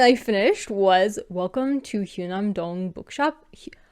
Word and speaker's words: Hyunam-dong: I've been mispronouncing this the whole time, but like, if you look at the Korean spelling, I was just getting the vowel wrong. This is why romanization is hard.